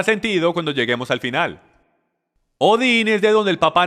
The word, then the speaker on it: Odín: libros enciclopedias e historia odín o algunos lo pronuncian votan era el Dios de